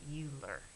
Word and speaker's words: Euler: named it his name was I think you pronounce it Euler but it started with an e so we're